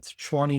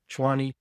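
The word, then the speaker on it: Tshwane: Chwani logo. That's how you say it in in South African Zulu. Chwani.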